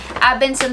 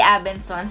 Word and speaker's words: Abenson: Abenson po at hindi Abensons. Ang dami kasing nalilito na iba dyan na Abensons ang pronounce. Dati ganun din yung pag-pronounce ko, but at least alam na natin, wala pong S sa dulo.